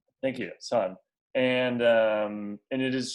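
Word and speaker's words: Söhne: type called son s it's like a german pronunciation s o h thank you son and um and it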